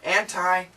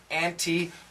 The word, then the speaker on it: anti: you can hear that so anti anti both are fine which is more common it depends on the person I know for a fact my dad who Highly Educated man he always says anti anti anti my mom who's well educated not as much as my dad but very well educated mother auntie auntie auntie so there's no perfect answer I grew up with both pronunciations feel free to use whichever comes natural I guarantee the native